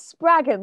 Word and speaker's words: Spraggan: We are here with singer, songwriter Lucy Spraggan. Thank you so much for sitting down with us today. Thank you for having me. I also love the way that Americans say my surname. It's Spraggan, like dragon.